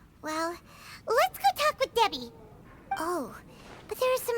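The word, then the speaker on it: Dehya: It is pronounced Debbie.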